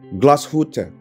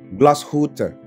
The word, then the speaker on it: Glashütte: Beberapa orang gua pernah dengar nyebutnya adalah Glashütte. Gua sendiri dulu bacanya adalah Glashütte. Tapi ternyata seharusnya adalah Glashütte. Gua ulang, Glashütte. Oke, sekarang masuk ke merek ini.